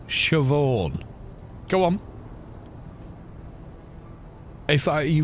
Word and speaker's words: Siobhan: If I you read it in English, it's Siobahan. You know what I mean? If if you have a native language that isn't Gaelic, then you're going to mispronounce Gaelic names.